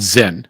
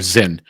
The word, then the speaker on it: Zyn: Chuck Schumer is going after a product called Zen let me spell that for you we've titled this episode in fact forgive us our Zen zy n zen okay this is a product